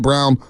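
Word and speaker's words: Braun: I like Christian Brown spell brown but he's they pronounce it brown chrisan brown at the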